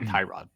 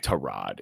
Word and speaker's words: Tyrod: But anyway, yeah, I I've also heard it's not Tyrod, by the way. Trod. Yeah, that's how you pronounce it.